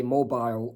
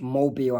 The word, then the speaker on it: Mobile: And another difference in US and UK terminology is Americans would say mobile, while Americans would say mobile. Apart from the city in Alabama is pronounced Mobile, Alabama.